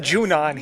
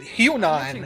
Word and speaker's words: Junon: So they pronounce it Junan here. I've pronounced it Hunan to scrape the rust pretty much my entire life cuz no one ever easier said than the rotor's missing a key component.